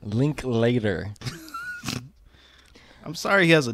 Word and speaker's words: Linklater: Richard Linkler. Fuck. Richard, okay. Linkler. So that's not how you say it. It's Linkler, right? Linklater.